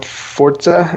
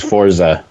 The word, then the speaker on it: Forza: In English, it reads as Forza. Yeah, but the correct, how to say it correctly, pronunciation is Forza. It's Italian.